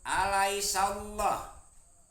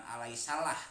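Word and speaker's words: أليس الله: Alaisallah ada lam jalalah tafhim, dibacanya tebal, bukan alaisalah tapi alaisallah.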